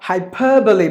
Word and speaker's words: hyperbole: So hyperbole, but either way you go, you have to give the stress here for this. Per should be given more volume.